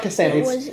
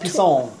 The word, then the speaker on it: Pissant: And so he tells his boss, the FBI director, he goes, no, it's not Pissant. It's pronounced Pisson. It's French.